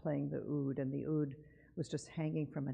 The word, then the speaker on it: oud: in ladino and she played the oud the ud is a middle eastern instrument that looks like